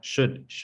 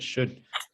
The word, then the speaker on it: should: sick i should study don't pronounce the l should should the l is silent